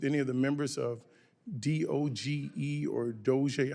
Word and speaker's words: DOGE: May I ask you, do you work with any of the members of DOGE or DOGE? How do you pronounce the name of the committee?